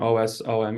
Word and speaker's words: OSoMe: um but the mcon OS which is pronounced awesome is a a joint